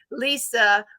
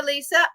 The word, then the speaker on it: Elisa: alleys doing these drills Lisa with an a in front Okay Elisa I was saying it wrong forgive me Elisa I